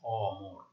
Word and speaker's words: অমর: এখানে দেখো অমর, ঠিক আছে, এটাকে আমরা বলবো বিবৃত বা অ এর মতো বা স্বাভাবিক উচ্চারণ।